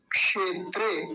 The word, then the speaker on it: क्षेत्रे: और कैसे बोलेंगे धर्म क्षेत्रे धर्म क्षेत्रे क्षेत्र नहीं बोलेंगे नहीं तो देखि गलत उच्चारण समझिए फिर से धर्म क्षेत्रे क्षेत्र बोलते हैं क्षेत्र गलत उच्चारण है सही उच्चारण क्या हो